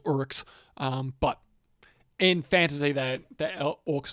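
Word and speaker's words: Orruks: Technically, they don't call them orcs; they're called urks.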